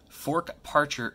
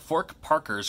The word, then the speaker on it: Fork Parker: let's go for it and here it is fork Parcher high coupon mispronouncing at fork Parker's crunch out fork Parker's crunch out there's a